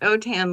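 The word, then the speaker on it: Autin: husband is cjun French and the name is pronounced otan like otan my hide it's it's a u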